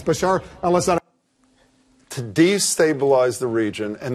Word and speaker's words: Bashar al-Assad: in charge Bashar al-assad I know you've missed pronounced his name a few times but it's Bashar al-assad to destabilize the region